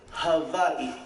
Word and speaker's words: Hawaii: you never know first things first the proper pronunciation is hawaii just so the world gets to hear it